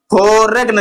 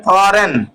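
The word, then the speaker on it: foreign: silent ऐसे देखिए देखिए फोरेग्न लिखा है फरेगि पढ़ेंगे फॉरेन क्यों क्योंकि जो है देखिए जी के बाद भी एन आ गया है हमने क्या लिखा है अगर के और जी के बाद तुरंत एन आ जाता है तो के जी दोनों साइलेंट हो जाता है तो यहां देखिए जी के बाद भी एन आ गया है तो इसलिए जी नहीं पढ़ेंगे जी साइलेंट हो जाएगा ये जी जो है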